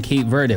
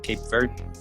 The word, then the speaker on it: Cape Verde: it no i mean it's pronounced different i pronounce it in the united states you kind of pronounce it cape verde cape verde okay verde yep okay